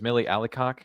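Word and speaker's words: Milly Alcock: I think Malie I think her name is Millie Alik is how you say her name.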